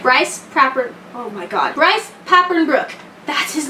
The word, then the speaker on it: Bryce Papenbrook: Bryce Papenbrook.